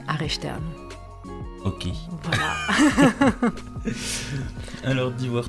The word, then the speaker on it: Aresteanu: chouette atelier avec archtinou je l'ai bien prononcé non désolé bonjour bonjour Alors comment prononce ton nom de famille mon nom de famille se prononce archtern ok voilà alors dis